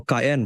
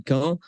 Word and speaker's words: Caen: So yes, like you say, it's Caen. So well done for the pronunciation.